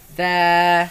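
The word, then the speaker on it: ث: Now this letter comes from the front flat part of the tongue against the edge of the upper teeth. Softly. Do not press it hard. Do not put pressure. Look, do not go like this. No. Very softly. Just contact.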